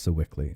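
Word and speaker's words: Sewickley: And that's pronounced Sickly.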